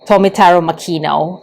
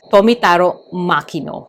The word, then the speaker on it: Tomitaro Makino: But per research, it is Tomitaro Makino or Makino Tomitaro. When I researched it, usually the Japanese will say the last name first and then the first name.